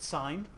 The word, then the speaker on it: sin: So on this triangle, our abbreviation for sine is SIN. We pronounce it sine.